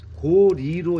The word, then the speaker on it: 고려: 그래서 이게 나라 이름으로 쓰일 때는 리로 발음을 하는게 맞다는 거지. 그래서 고려가 아니고 고리로 읽는게 맞다.